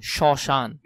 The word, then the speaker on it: শ্মশান: শব্দের প্রথম বর্ণে ম ফলা থাকলে সেই বর্ণের উচ্চারণের সময় ম এর উচ্চারণ অ এর মতো হয়, যেমন শ্মশান, এখানে এটা শরীয়র মতো উচ্চারণ হয়ে গেছে, এটা একটু দেখবে এই বানানটা।